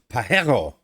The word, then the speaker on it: Pajero: came out with the Pajero, which when you write it and pronounce it in Spanish is Pajero.